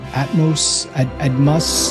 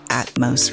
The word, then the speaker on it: Atmos: and he pronounces it Atmos Rewards. And I think that's how we should say it as well. It's not Atmos, like atmosphere. It's Atmos.